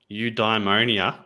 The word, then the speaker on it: eudaimonia: Eudaimonia. Yeah. Eudaimonia is how it's pronounced.